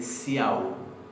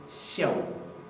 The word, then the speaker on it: sjáðu: No se pronuncia literalmente siau, siau, sino que se palataliza. Se pronuncia casi como si esta S fuera una SH seguida de una yod. Entonces vamos a decir xiao, xiao, xiao.